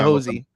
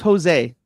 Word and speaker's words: Jose: I don't I don't like the hosy stuff. His name's Jose, but that's neither here nor there. I won't I won't do the hosie.